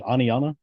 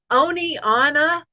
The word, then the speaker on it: Oneonta: about something happening and they'll say Oni Anna yeah or one Uncle I've heard that a lot yeah yeah we have